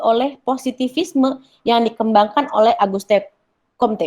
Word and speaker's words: Auguste Comte: Karena sampai saat itu ilmu-ilmu sosial kemanusiaan masih didominasi oleh positivisme yang dikembangkan oleh Auguste Comte, bacanya gitu ya, yaitu menggunakan metode ilmu-ilmu alam untuk mengetahui manusia dan masyarakat.